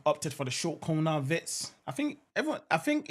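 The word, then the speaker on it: Wirtz: He said my name is Floren Vitz, not Vets.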